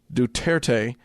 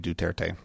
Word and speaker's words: Duterte: And you have to overpronounce the T's.